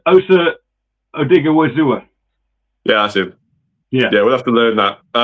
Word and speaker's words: Osa Odighizuwa: I'll let you pronounce his name. Osa. Don't go with it. I'll start. It's Osa Odighizuwa.